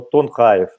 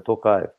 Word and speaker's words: Токаев: очень публичный был человек, называет его Тонхаев. Я, уважаемые друзья, произношу его фамилию правильно, Токаев.